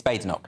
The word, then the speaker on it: Badenoch: Is it Badenoch? It's Badenoch. It's Badenoch. Yeah.